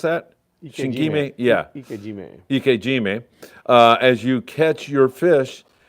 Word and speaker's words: ikejime: and sever the nerves, like, how do you pronounce that? Shinkime? Yeah. Ikejime.